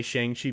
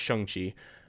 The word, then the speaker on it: Shang-Chi: I want to say Shang-Chi because I'm a stupid American, but it's Shang-Chi, the way it's pronounced.